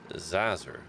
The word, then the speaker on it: Zazzer: doing it on purpose it's professor zazzer like or azer like laser with a zed how hard is that